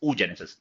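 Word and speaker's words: oogenesis: उ जेनेसिस ठीक है उसका स्पेलिंग है double O जी ई एन ई एस आई एस उ जेनेसिस को उ ऊ जेनेसिस पना इट्स उ जेनेसिस और अगर बनेगा स्पर्म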